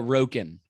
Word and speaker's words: Roken: Roken.